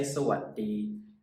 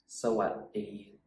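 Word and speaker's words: สวัสดี: So I put the T in there, so hopefully when you read it, you can kind of sound it out, and then it would sound like sawadee, sawadee.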